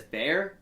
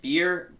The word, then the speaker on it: Bear: Everyone says Bear. It's actually Beer Bachmeier, the quarterback, freshman for BYU.